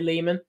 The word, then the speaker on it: Lehman: Spoke to a Jason actor, Ari Lehman, rhymes with demon, as he says.